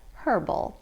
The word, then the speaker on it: herbal: England but it is referred to as herbal tea there they pronounced the H also I'm not going to